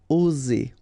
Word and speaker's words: oser: Remember, only one S between two vowels, so the sound is Z. Oser. Oser. Okay, not too strong.